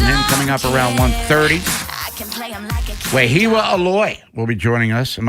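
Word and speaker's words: Wehiwa Aloy: Wahiwa Aloy will be joining us. Am I pronouncing that correctly, by the way?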